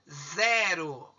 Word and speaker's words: zero: Qual que é a sílaba mais forte? O Zé. Então, a sílaba Zé é a mais forte.